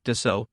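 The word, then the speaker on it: Dassault: Aviation Dasa Aviation sa French pronunciation de so is a French manufacturer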